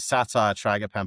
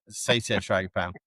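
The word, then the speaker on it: Satyr tragopan: sat tragapan I think John Franson always tells me it's satiran so I should say it correctly sat tragapan we always used to call it satire tragapan But he reminds me that's a form of humor and it's actually sati frag pound.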